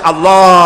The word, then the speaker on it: আল্লাহ: আল্লাহ পাকের উচ্চারণটা হচ্ছে আল্লাহ পাকের নাম হচ্ছে আল্লাহ মুখটা একটু গোল হয়ে যাবে বলেন আল্লাহ আল্লাহ পৃথিবীতে